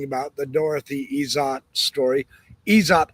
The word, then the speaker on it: Izatt: Isot. I call her ESOT. Is Z- A T. It might just be Isat. I've heard it pronounced Isat, but I think it's Isot. It's just my opinion.